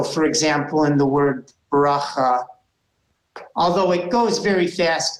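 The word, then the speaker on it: בְּרָכָה: very nice very nice but in you know very natural fast flowing Hebrew it would end up sounding like bracha and and you would barely notice the schwa at all you'd go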